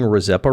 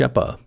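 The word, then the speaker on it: Rzeppa: apparently I'm also pronouncing rppa wrong I'm told the r is silent and also the Z is a sh sound which I've never heard before this joint was invented by Alfred hans's sh shepa this is in contrast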